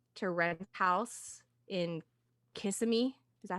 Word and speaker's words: Kissimmee: rent a house in Kissimmee. Is that how you say it? And I think just drive in. I think it's Kiss Me.